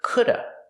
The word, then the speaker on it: could've: Sometimes you'll hear coulda. People will not pronounce the v sound at the end, could've. They just say coulda. This happens only before a consonant.